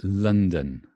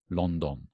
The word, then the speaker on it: London: that is right um its London London okay it's not blonde on right LA sounds weird London sounds funny London London okay the stress is on the first part lund so it's an upside-down V don't know why they do that and then the same sound in the second syllable it's an upside-down E so it's a London London yeah very strange it's